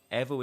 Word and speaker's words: EVO: But I've been told by the developers and the company, EVO is the correct one.